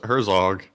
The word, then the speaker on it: Herzog: you say it yeah no it's Herzog oh Herzog I say her Zoo oh that's good oh